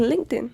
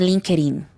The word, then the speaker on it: LinkedIn: does a favor please please the pronunciation is not Linkin what is link it's LinkedIn thank you very much because many people say link it link it no no guys linting okay linting uh I know